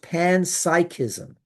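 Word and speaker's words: panpsychism: It's pronounced pansychism.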